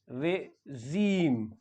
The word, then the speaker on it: regime: या administration so वी हाउ डू we pronouns R ई जी आई एम ई तो यहां पे जो आई है आई का साउंड होता है ई ई साउंड होता है तो और जो जी होता है वो जी प्रोनाउंस किया जाता है जेड जी का साउंड भी होता है जड जड साउंड होता है जी साउंड होता है यानी रेजीम सो क्या पढ़ेंगे इसे